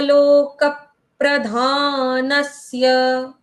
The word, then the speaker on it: लोकप्रधानस्य: आवाज आनी चाहिए कैसे लोकप्रधानस्य लोकक प्रधानस प्रधान नस्य नस्य यस नस्य मैंने च पढ़ा नस्य में भी हम क्या कर रहे हैं पहले आधे स की आवाज फिर य की आवाज नस्य मैम आपने